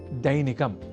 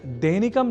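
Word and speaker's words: दैनिकम्: अब वाक्यगत अभ्यासार्थ अगला शब्द है दैनिकम जहां ऐ अक्षर का प्रयोग है। तो हम दैनिकम जैसे अशुद्ध उच्चारण ना करें।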